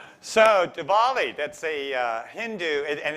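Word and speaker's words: Diwali: the coolest guy in the room so divali that's a uh hindu and it's pronounced duvali it's a hindu feast of the feast of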